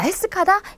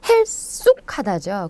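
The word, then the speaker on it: 핼쑥하다: 자, 헬스카다, 헬쑥하다죠. 근데 되게 이렇게 가냘표 보일 때 우리는 헬스카다가 맞는 것 같지만 실제로 헬쑥하다고요. 자, 이런 것들 좀 주의하셨으면 좋겠어요.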